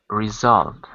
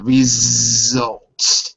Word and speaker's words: result: It's not an S, it's a Z. Okay, yeah. Result. Yeah, result.